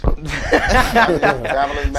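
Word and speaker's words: Babyliss: I say Babyless because it rhymes with fabulous. Babylous.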